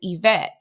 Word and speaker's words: Yvette: I could say, my name is Yvette. I stress the second syllable in my name, but sometimes people say Yvette, and I'm like, yes, but no.